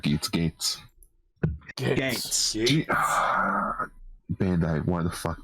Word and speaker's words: Geats: So yeah, I would say Geats, or not Geats, Gates. Gates. Bandai, why the fuck do you have two riders that have the same pronunciation?